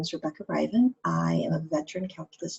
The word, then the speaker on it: Rivan: The best way to pronounce my name is to think about the R not being there, so it's Rivan, rhymes with Ivan.